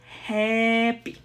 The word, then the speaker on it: happy: your mouth, like when you are saying the a. Okay, so it's not going to be happy, it's going to be happy. Look at my mouth, happy, okay? And that's how happy It's correctly pronounced.